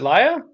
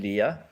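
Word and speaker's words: Léa: Is it Laya? Yeah, Laya. Yeah, she's from France, right? Laya. Sorry, It's actually Leah.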